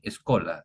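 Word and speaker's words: schola: Se pronuncia en latín escola. Esola cantorum. Bien.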